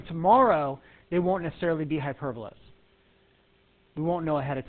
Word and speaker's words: hyperbola: hyperbola but that's how it's spelled hyperbola it's pronounced hyperbola this is a hyperbola guys and every single